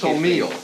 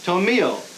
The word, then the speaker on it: Tomillo: the pronunciation is Tomillo. Tomillo.